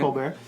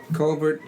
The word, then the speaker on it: Colbert: stephen colbert i'm covered in the house man colbert culvert are we allowed to say israel this is you can really pronounce it i mean well it's actually a